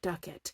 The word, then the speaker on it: Duquette: So she changes it to like a French moniker, a French name, Duquette, but it's pronounced Ducat.